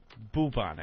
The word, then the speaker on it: bubonic: But unfortunately, it's pronounced bubonic.